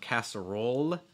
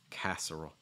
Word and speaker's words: casserole: l so it's not casserole it's not really la la it's more castle roll with the dark l again raising the back of your tongue lower the front of your tongue casserole casserole that is a lot